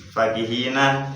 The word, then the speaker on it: فَكِهِينَ: Fakihina fa-nya dibaca pendek.